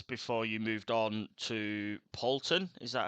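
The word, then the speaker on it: Sankt Pölten: or seven years before you moved on to Pton. Is that how it's pronounced? Yes. S Bton.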